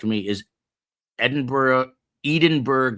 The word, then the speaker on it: Edinburgh: Is Edinburgh? Edenburgg. Not Kevin Readington says Edenberg. I don't know anyone who calls it Edenberg. Other than Kevin Readington, it is Edinburgh and it would be